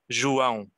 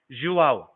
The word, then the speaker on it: João: So my name is pronounced like João. João, is that right?